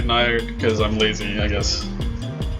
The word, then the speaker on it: Njord: I think it's actually pronounced more like Njord or Niord because it's an obvious literal copy of, you know, the Old Norse god. I just say Nyard because I'm lazy, I guess.